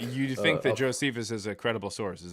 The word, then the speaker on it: Josephus: Or how you pronounce it. Say it one more time. Josephus.